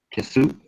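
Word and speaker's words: qsw: and it is pronounced Kisu.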